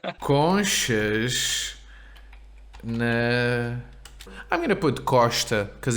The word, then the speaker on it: Costa: And why is it a sh? It's because it is at the end of the first syllable and precedes a consonant.